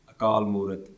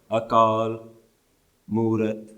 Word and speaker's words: Akaal Moorat: be pronounced with Moorat, it's one long word. Akaal Moorat. This is why when we pronounce the Mool Mantar, we don't stop at Akaal. We don't say Nirpao, Nirvair, Akaal, Moorat, Ajuni.